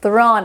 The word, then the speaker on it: thrown: o w n e a pronúncia aqui fica on on Como por exemplo o past participle do to throw fica thon thron abre o som abre a boca ó thron e não